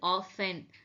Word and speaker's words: orphan: ஸோ இது ஆஃபன். டி வரக்கூடாது. This is known as ஆஃபன்.